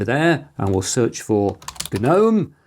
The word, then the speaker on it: GNOME: So, let's open the app center over there and we'll search for Gnome, which is pronounced with a hard G because it's a double acronym.